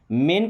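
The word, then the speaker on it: main: अब ध्यान क्या रखना था कि जहाँ AI आ रहा है उसका उच्चारण एक ही मात्रा, जैसे प्लेन, मेन, गेन।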